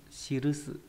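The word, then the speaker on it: 記す: Chữ này có âm cương là shiru với trong từ shirushi, shirusu. Shirusu là động từ có nghĩa là viết hoặc là ghi chép. Âm ôn là ki. Là ki, ví dụ trong từ nikki là nhật ký.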